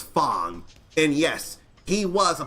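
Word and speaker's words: F.A.N.G: just had the uh initials F A N G pronounce as Fong and yes he was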